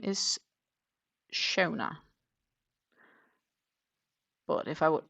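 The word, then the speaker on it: Seonaid: Her name is spelled um s e o n a i d, which for me would be pronounced sinate, but that's not how she's pronounced. She's pronounced shona.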